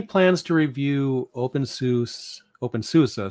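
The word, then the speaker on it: openSUSE: Open susa. See, even I say it wrong sometimes. Open susa, that's the right way to say it.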